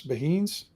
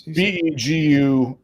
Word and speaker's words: Beguines: Beheens? Oh God, you got me on that one. I don't think. What was it? Yeah, I don't know this. Beheens? It's Beguines. Oh, like begin to begin.